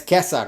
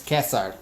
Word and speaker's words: Caesar: Ba Bourja and it's Kesar again. C is hard K. So it's not that's where Germans get Kaiser from because they're they're using the Latin pronunciation Kaiser is Kesar that's another version of